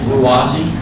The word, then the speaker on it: Ruwazi: It's Ruwazi. I think the Z's scare people, but thank you, Jack.